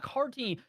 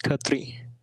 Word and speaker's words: Khatri: And if I'm not pronouncing that correctly, please do tell me. Yeah, it's Khatri.